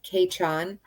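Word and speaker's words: Cèitean: gaelic um they their word for may is keichon which it's spelled c-e-i-t-e-a-n but it's pronounced k-chon don't ask me how long it took me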